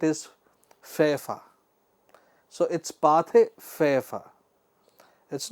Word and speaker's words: Pathé Frères: company faced competition from the aggressive and monopolistic Pathé Frères.